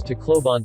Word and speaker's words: Tacloban: - clove on Tacloban Tagalog pronunciation T cloven or simply referred to as Tacloban City is a first-class highly urbanized city in